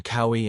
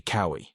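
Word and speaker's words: Kauaʻi: In addition, one difference between cowi and Maui is the okina, the little apostrophe thingy. In reality, it's a slightly different symbol, but I'm lazy. This basically counts as a consonant and as a little pause. So basically the au and I sounds do not merge together because they are separated by the okina.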